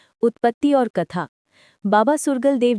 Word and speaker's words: सुरगल देव: Note: बाबा सूरसागर देव जी का सही उच्चारण और वर्तनी हिंदी राजस्थानी लोक परंपरा में बाबा सुरगल देव जी के रूप में प्रचलित हैं।